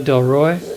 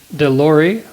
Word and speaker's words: Delorei: Donna Del Roy, Deloy, Delorei, Delorei, David Newman, Adam Bower, and Jai Jagdish.